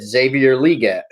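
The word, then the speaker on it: Xavier Legette: And when he said it, I observed him saying his name to somebody, and he said Xavier Luedecke.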